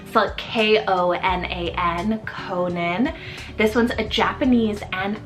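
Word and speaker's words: Konan: down the list here next up we have Conan for k-o-n-a-n Conan this one's a Japanese and Irish rooted name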